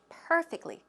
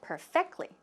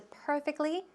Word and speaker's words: perfectly: pronunciation of perfectly perfectly where does the stress go it goes on the first syllable perfectly perfectly but you said perfectly so if you just switch that over to perfectly okay I think it'll